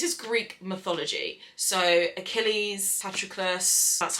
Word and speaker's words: Patroclus: So Achilles, Patroclus, that's how you say his name.